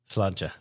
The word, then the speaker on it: sláinte: Sláinte.